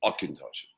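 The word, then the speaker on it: Auchentoshan: that'll give you akintoshi so it's a hard c k sound right and as you can see there we are distilled different now let's say why now why would you pronounce akintoshin akintoshi um now the reason is very simply is it's not an english word it's a gaelic word and in gaelic we pronounce things just a little bit differently than we do in english so um the gaelic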